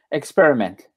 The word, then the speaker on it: experiment: Experiment. It is the same. Experiment. Yeah, there was an experiment. Right, because the emphasis is on the N, ment, MENT, experiment, as opposed to experience.